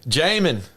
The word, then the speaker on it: Jamin: Jermaine Davis out of Kentucky. That says Jermaine? Defense, man. No, not Jermaine, but Jermaine. I said Jermaine. My fault. Jamin. That was Jamin. All right. Jamin.